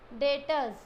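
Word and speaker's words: debtor: नॉन आज data परसों बी इस साइलेंट बच्चों डीटर दिस इस नोट डेट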